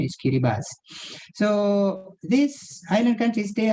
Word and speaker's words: Kiribati: Kiribati, tapi sebut sebenar ada correct pronunciation is Kiribati. The spelling is Kiribati, the name of the country, tapi the correct pronunciation is Kiribati.